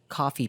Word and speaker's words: Ko-fi: So we actually set up a coffee page. If you didn't know, Coffee is a platform that's spelled KO-FI that allows anyone to support their